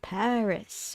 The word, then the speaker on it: Pavris: That one came from this song by Paris or Pavris, or yeah, it's Paris, but it's spelled as Pavris.